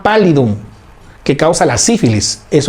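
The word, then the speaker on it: pallidum: Se escribe payidum con doble l. Treponema pálidum que causa la sífilis.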